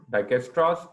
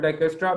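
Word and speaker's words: Dijkstra: the second name isra j is silent over here Destra algorithm why we call it Destra because the scientist which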